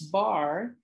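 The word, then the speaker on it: barre: So now this bar is spelled B-A-R-R-E.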